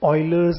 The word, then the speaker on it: Euler: एक साइंटिस्ट हुए थे, स्पेलिंग उनकी थी EULER, पर बोलते थे ऑयलर।